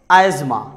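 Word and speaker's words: asthma: और ऐसे ही आजमा में टी प्रोनाउंस नहीं किया जा रहा है और उसके साथ साथ एच भी नहीं प्रोनाउंस किया जा रहा है.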